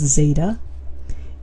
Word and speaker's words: zeta: Notice this value right there is just pronounced zeta.